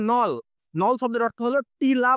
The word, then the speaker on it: knoll: And hair on a grassy নল, এই যে KNOLL এই শব্দের উচ্চারণ হচ্ছে নল।